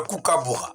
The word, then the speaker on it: kookaburra: Alors, essaie de prononcer pour moi. Le kookaburra. Le kookaburra.